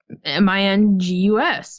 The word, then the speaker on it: Menzies: yeah it should be M ing us Mingus port and it and Ian will be Mingus but yeah it's just it's not spelled phonetically how an American would pronounce it exactly but there is a